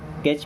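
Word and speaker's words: catch: कैच means क्या होता है? पकड़ना। देखिए, इसको काट से नहीं पढ़ते, यहाँ पे टी साइलेंट होता है।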